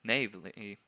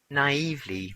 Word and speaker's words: naively: endanger his people again perhaps navely navely I have to look this one up I think I pronounced it incorrectly naively yes of course it's a Tyrion